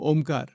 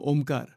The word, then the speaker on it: Om: is the ultimate Mantra all mantras come from Omar you know doesn't matter which Mantra it is it doesn't make any difference all mantras all sound all of reality comes from Omar so oh that is how it is pronounced